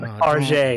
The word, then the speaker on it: Target: I'm pretty sure this was like a Target buy. Okay. You said it wrong. Tarjay. It was a Tarjay.